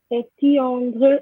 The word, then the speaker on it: éteindre: Okay, not quite to the two of you, is éteindre, éteindre. Okay, that's that sound. Éteindre les lumières, to switch off the lights. Okay, éteindre. Okay, that's a bit like when we had pleinement. Okay, it's the same sound, plein, éteint.